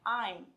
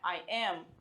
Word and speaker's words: I'm: A minha pronúncia é I'm, não é I am. Se está escrito contraído, eu vou ler contraído, eu vou falar contraído.